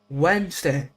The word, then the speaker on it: Wednesday: I think at least Wednesday is awful. Why is it spelled like that? It should be spelled like W N S D A Y. Not wed nest day. What? Wednesday. Wednesday. Not wed day.